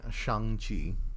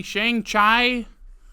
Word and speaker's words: Shang-Chi: like people love this today we are watching Shang Chi did I say it right yep sh oh the people who mispronounced that when it came out tell us